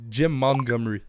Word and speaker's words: Montgomery: de dire son nom c'est Mongomery c'est ça j'ai dit Mongomery c'est en français Montgomery c'est c'est c'est exactement comment ça se prononce en français mon je pense